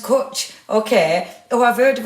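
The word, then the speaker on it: cwtch: Oh, it's pronounced kutch.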